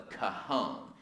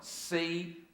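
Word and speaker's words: cajón: This is an instrument, the cajon. That's spelled C-A-J-O-N. The cajon, and in Spanish, that means box or drawer.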